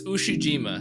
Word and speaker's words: Ushijima: dude oh all right so it's ushijima so i've been calling him mispronouncing his name wrong the entire episode i formally apologize for